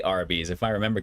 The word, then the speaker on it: Arby's: i think it's actually a lot of people thought it was r and b's um i think but they just kind of phonetically say arby's if i remember correctly